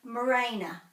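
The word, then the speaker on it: mōrena: So morena. More has got the macron. Morena, morena. I hear some people say morena.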